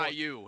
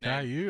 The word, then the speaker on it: Caillou: People on the YouTube page think he looks like a cartoon character named Kalu. Have you ever seen this kid before? Caillou is how you say the name. Caillou.